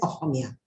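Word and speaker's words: অসমীয়া: The name actually we pronounce as Ohomia.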